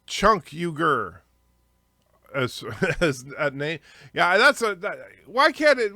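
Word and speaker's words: Cenk Uygur: 100 subs that's true it's pronounced chunk huger yeah that's why can't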